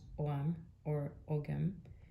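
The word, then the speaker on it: Ogham: shows the symbols called ogam pronounce Oram which is an early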